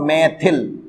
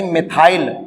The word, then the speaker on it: मिथाइल: मैथिल, यानी मिथाइल। Okay, English में अपन मिथाइल बोला करेंगे, वैसे हिंदी में मैथिल प्रोनाउंसिएशन ज्यादा किया जाता है।